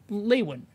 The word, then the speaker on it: Lewin: on professor walter uh levin isn't it yeah lewin right yeah i'm i'm butchered